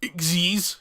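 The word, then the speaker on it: Xyz: __ ] XD monsters XE monsters pronounced eggsy's sorry are powerful kinds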